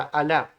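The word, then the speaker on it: אָלָה: palabra sino que es la palabra alah sí no estoy hablando del dios árabe sino que estoy hablando de la palabra juramento en hebreo que se pronuncia de la misma manera alá vamos al diccionario y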